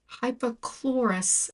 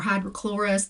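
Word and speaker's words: hypochlorous: So just so you know, find yourself some hypocchlorous acid. I see some influencers say it wrong and they say hydrochloric or hydrochlorous. That's wrong.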